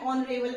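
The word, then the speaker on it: honourable: वी can also say that N ऑनरेबल person. तो क्या है इसमें यूज तो कॉन्सोनेंट का हुआ है, ठीक है, but here consonant is silent. Okay, consonant क्या है, साइलेंट है, उसकी कोई साउंड नहीं है, वो बिल्कुल जो है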